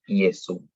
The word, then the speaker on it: Iesu: La J es una consonante por posición, pero en la pronunciación es como una I. Entonces, si vemos eso escrito, lo que está en el ejemplo, pronunciamos Iesu.